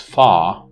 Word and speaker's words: far: followed by a vowel in the word far the r is not pronounced it's pronounced pha so you see it's